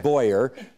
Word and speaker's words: Boer: University of Guelph, Boyer, whose name is spelled Boer, but pronounces it Boyer.